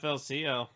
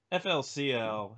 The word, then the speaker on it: FLCL: Rhymes with Ruly Ruly. What? I didn't even catch that. Ruly Truly. Alright. Yeah, FLCL. I'm actually...